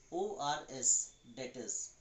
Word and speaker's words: debtors: DEBTORS, debtors. B is silent, okay? Then you try to think and pronounce what is the pronunciation of this word. It is debtors. This B is silent.